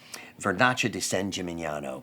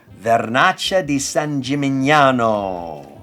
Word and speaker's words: Vernaccia di San Gimignano: Vernaccia di San Gimignano, produced right near Siena.